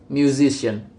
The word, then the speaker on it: musician: The base word music is stress on the first syllable, but when the suffix ian is attached, the stress moves to the syllable immediately before the suffix, producing musician. Gingrich notes that suffixes like